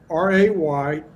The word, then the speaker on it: Rejan: So, Rejan. Did I say it? Rejan? Rejan, yeah. Like, Rejan. I would pronounce RAYZHAN, soft J, you know, so that's how I, you know. Just Soft J.